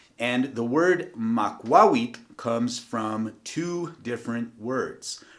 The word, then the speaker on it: Makwawitl: Well, this weapon is known as a Makwawitl. So just once again, in case you didn't get that, Makwawitl. And please note the way that I'm pronouncing the TL at the end.